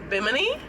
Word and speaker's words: Bimini: where you think yeah bimini bim knee that's how you all pronounce it yeah that's that's you